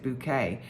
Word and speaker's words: Bucket: not or sometimes pronounced bucket because it was spelled bucket but she pronounced it bouquet she could not um